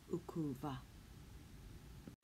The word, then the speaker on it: ukuva: one syllable verbs that have a silent eye on the front in these scenarios the eye just falls away away and it becomes ukuva so because two infinitive